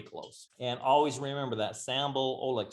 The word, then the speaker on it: Sambal Oelek: and always remember that sample oh look just like it's spelt on the recipe not sandra bullock although she's hot too